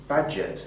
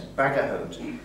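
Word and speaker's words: Bagehot: I'm told reliably that his name is badget it's one of these sort of you know upper class names bagot it's it's spelled I think it's meant to be badget uh anyway badget of The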